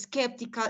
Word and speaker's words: skeptical: something it's true so it's very important to stress is skeptical in the first syllable so we are going